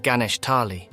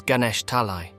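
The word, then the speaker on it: Ganesh Talai: his hometown for years it wasn't gesh Tali as he had remembered it was Ganesh talii the realization hit him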